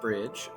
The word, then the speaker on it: BRDG: explore our world further brdg or as it's pronounced Bridge uh we Bridge the